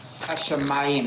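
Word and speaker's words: הַשָּׁמַיִם: The patach plus the Hashamim. yud makes the I sound. Ma. Hashamim. Hashamayim.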